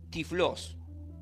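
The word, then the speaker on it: τυφλός: evangelios proviene del griego Eh tiflos así así se lo puede pronunciar y del hebreo iger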